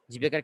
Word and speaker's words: জীবিকা: জীবিকার ক্ষেত্রে খেয়াল করার বিষয়, প্রথমটা হচ্ছে দীর্ঘ ইকার, দ্বিতীয়টা হচ্ছে হ্রস্ব ইকার। তো আপনারা যদি উচ্চারণটা ওই সিস্টেমে টান দিয়ে করেন, তাহলে কিন্তু লেখার সময় দেখবেন যে আপনার সঠিক হচ্ছে। অর্থাৎ আপনি উচ্চারণের সময় উচ্চারণ করবেন জীবিকা।